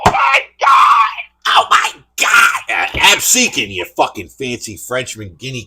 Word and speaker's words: Absecon: store in Absecon because Joey Styles mispronounced it and called it Absagon. Of course he fucking did. Well, he's from New York, Joey. Oh my God! Oh my God! Absecon, you fucking fancy Frenchman guinea cocksucker!